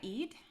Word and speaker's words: Eid: um yesterday was am i saying it right eid yeah yeah yeah yesterday was eid but no